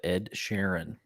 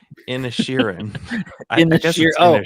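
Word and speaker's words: Inisherin: Tar, everything all at once and the banshees of Ed Sharon. No, in Shiran Sharon.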